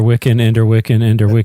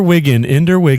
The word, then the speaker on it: Wiggin: Yeah, you didn't say it right once. Young Ender Wiggin is recruited by the you said Wiccan the first time. The first time, and then I had to fucking say it right the second time.